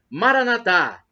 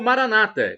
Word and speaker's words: Maranatá: E do aramaico, dialeto de Jesus, eu clamo Maranatá, como dizemos nós católicos, ou Maranata, com a tônica na penúltima sílaba, como dizem os nossos irmãos separados, os evangélicos ou protestantes.